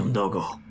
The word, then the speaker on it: Umdogo: Bozi Umdogo.